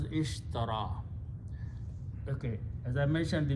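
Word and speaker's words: اشترى: ya Sheen ra India this word is pronounced as ishtara okay as I mentioned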